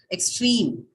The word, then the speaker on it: extreme: get the stress right for example the word complete extreme right so the second syllable is having a longer it has a long vowel and hence the stress now falls on the um last one on pleat and train uh verb what happens